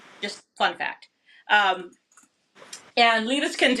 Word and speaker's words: Liebeskind: So in German, if you have IE, it's a hard E sound. If you Okay. have EI, it's a hard I sound. Just fun fact. Um, and Liebeskind, it's a Berlin brand.